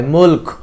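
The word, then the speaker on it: الْمُلْك: করবেন তাকাললা বিদিহিল মুলক মুলক যখন মুলক বলবেন তখন যেন মুখ থেকে ফার মতন একটা শব্দ বের হয় মুলক অক হ্যা আবারলা বিবিদিহিল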